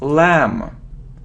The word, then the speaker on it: lamb: look at this word it isn't lumber or it isn't lamp no we don't pronounce B so it's lamb lamb next you see